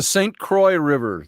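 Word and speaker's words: St. Croix: Oh, did I pronounce that? What is it? Stu or St. Croy River? The St. Croy River, they call it up here.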